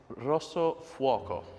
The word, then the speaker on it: Rosso Fuoco: Alex, as you are our in-house Italian language specialist, Would you like to confirm the pronunciation of what makes this different? It's Rosso Fuoco.